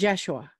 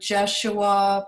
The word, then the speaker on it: Yeshua: Well, in Israel, it is Yeshua. So does it have a different vibration if, like, someone like me, you know, chooses to use the Jeshua pronunciation?